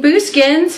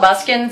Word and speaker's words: Buskins: for boo skins and he said thank you for choosing boo skins how can I help you and I was like oh I've been pronouncing it wrong this whole time awesome good I prefer